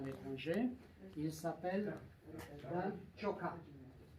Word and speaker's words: Ciocca: Il s'appelle Dan Ciocca. Je prononce exactement à la roumaine, comme en italien.